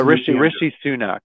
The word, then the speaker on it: Rishi Sunak: Yeah, Rishi Sunak.